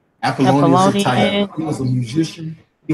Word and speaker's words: Apollonius of Tyana: But the proper pronunciation it says Apollonius of Tyana Jesus.